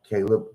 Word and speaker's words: Kalub: It's spelled KALUB. Caleb.